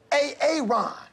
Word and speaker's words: Aaron: you say it the first time I said a a Ron pronounced Aaron you're done messed up Aaron now take